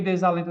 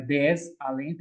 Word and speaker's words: desalento: Por que desalento está errado? Ó, za, formou uma sílaba. Esse S encontra base silábica. Esse S pede base silábica. Só um minuto, pessoal. Vai. Vamos lá. Continuando. Esse S encontra base silábica na outra sílaba. Não é desalento, é desalento. Por isso que a primeira estava errada.